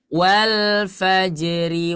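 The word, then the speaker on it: والفجر: Yang di ayat 1 kalau kita waqaf, rohnya dibaca tebal. Kalau kita bacanya kita sambungkan ke ayat 2 menjadi tipis. Wal fajri. Nah ya, jangan sampai wal fajri walaya repot ya. Jadi harus tipis. Sekali lagi ya.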